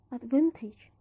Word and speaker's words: advantage: From the stem advantage, the primary is in the syllable van. But if there is suffix added, the stress is in the syllable k. So before the suffix exists, it is pronounced advantage. After the suffix added, it is pronounced advantageous.